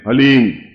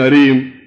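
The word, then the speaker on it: ह्लीं: वो बोले ओम हलीम, बस ये हलीम शब्द बहुत ध्यान से उच्चारण करने देना है, HALEEM, हलीम। कोई बोले हरीम, कोई बोले हीम, तो कुछ फायदा नहीं होगा।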